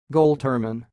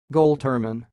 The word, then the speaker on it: Goltermann: word word you see it sounds like gold Turman goal Turman and now a little